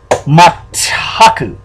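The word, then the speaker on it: まったく: Now, that is pronounced Mataku. Mataku. Now, it's not pronounced Mataku. It's pronounced Mataku. Because the tsu is in front of the ta, which makes it ta.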